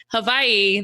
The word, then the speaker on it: Hawaii: gonna work on saying hawaii the right way the w is a v bella taught me that